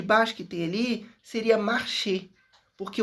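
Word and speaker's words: marché: O e do final não pronunciei. Se fosse o de baixo que tem ali, seria marchê, porque o acento ag tem som de e.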